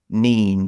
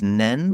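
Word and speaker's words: Nene: pronunciation of the place now I'm going to say nen from memory but I think I was told that it was nen nen nen okay yeah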